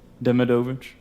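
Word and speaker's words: Demidovich: How do you pronounce that? Demovich.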